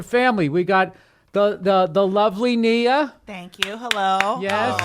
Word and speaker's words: Nia: And it's pronounced Nia, Bill.